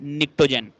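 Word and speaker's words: pnictogens: 5A के element नाइट्रोजन family या फिर निक्टोजेंस, पी साइलेंट है इसमें, निक्टोजन।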